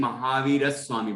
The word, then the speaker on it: महावीर स्वामी: संयुक्त अक्षर होता है वहां उस पर जोर आता है, ये संस्कृत के पढ़ने का नियम है। तो यहाँ पर और आधा सा और वाह आया ना, ये संयुक्त हो गया, तो महावीर स्वामी।